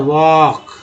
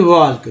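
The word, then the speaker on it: walk: LK में L को नहीं पढ़ते हैं, सिर्फ K को पढ़ते हैं, तभी तो उच्चारण होता है वॉक, न कि वॉल्क।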